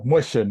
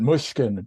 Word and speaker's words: Muchin: Mushin, we pronounce it, Okay. but they pronounced it Mushkin in the old country.